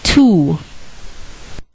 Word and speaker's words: two: W is silent as in two.